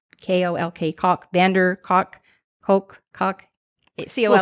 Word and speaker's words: van der Kolk: some of your listeners, but it's by Bessel van der Kolk, K-O-L-K, Kolk, van der Kolk, Kolk. C-O-L-K. We'll spell it.